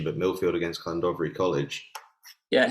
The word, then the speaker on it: Llandovery: A bit of a classic fixture, cross border, Millfield, and you'll have to check my pronunciation, but Millfield against Llandovery College. Yeah, Llandovery, but yeah, you're all right.